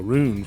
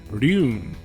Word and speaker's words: Ryune: Rune. It's spelled more like how it's pronounced in Japanese.